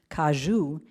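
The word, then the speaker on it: caju: I'd always known the cashew, which is pronounced kajou in Portuguese, to be a nut, but it's actually a fruit and a nut.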